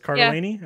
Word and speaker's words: Cardellini: So it's Cardellini?